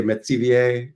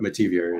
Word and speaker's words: Metivier: so well done um my grandmother would say Maier um the French pronunciation uh but metivier is generally how we go about it I should have tried